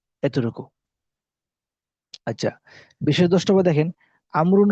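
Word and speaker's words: عمرو: এতটুকু আচ্ছা বিশেষ দেখেন আমরুন শব্দের শেষে ওয়াও থাকলে উচ্চারণ হবে আমরুন আর ওয়াও না থাকলে উচ্চারণ হবে ওমর যেটা আপনার অনেকে জানি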